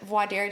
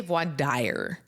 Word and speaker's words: voir dire: But voir dire doesn't look like it should be pronounced that way. It's often a lot of people say voir dire. Yes. Because that's what it looks like in English. It's the I would normally be the ire.